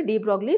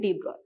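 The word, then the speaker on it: de Broglie: डी ब्रॉय, actually it is written as, the spelling is written in this way डी ब्रॉगली, लेकिन pronunciation इसको करते हैं डी ब्रॉय.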